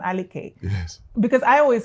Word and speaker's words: Aliker: Aleke is the correct pronunciation.